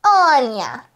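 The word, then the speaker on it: Ania: So my name is spelled A-N-I-A, like this, Anya.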